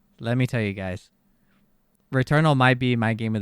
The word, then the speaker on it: Returnal: oh my god let me tell you guys return all might be my game of the year already re-eternal yeah no returnal returnal yeah i don't know